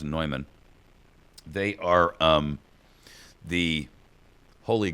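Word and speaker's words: Neumann: company it's a company by the name of nyman it's spelled like Newman but it's pronounced nyman they are um the Holy Grail if you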